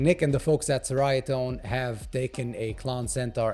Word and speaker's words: Ceriatone: and so nick and the folks over at cherry atone i was corrected about eight times on the